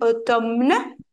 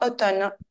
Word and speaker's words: automne: l'automne automne automne et ça s'écrit automne mais ça se prononce automne bien après l'automne vient